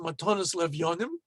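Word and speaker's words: מתנות לאביונים: Many synagogues will have a matanot le'evyonim fund, or as some might pronounce it, matonos levyonim, the more Ashkenazist pronunciation.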